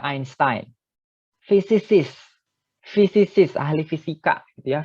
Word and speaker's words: Einstein: Jadi Einstein ini dibacanya Einstein.